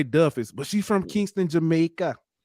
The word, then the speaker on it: Duffus: then um Jamila Duffus I want to say it's spelled it's d-u-f-f-u-s I don't want to say doofus because that's what it looked like but it's I'm gonna say Duff is but she from Kingston